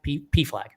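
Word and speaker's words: PFLAG: Is it pronounced P flag or is it a flag? P flag. Yeah, you got it.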